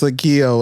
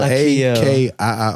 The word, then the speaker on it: Akiio: Akiio? Akiio. I can say it on camera. It's Akiio. Akiio.